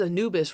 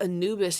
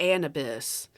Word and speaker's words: Anubis: I believe, I'm trying to remember, instead of Anubis, he said like Anubis. It's like, Anubis?